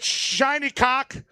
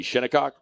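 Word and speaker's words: Shinnecock: Uh, that would be Shinikok. I'm sure. Is that not how they say it? That might be how they say it in Scotland. Shinok. Not down there. Shiny Nope, not shiny It is a shinok there.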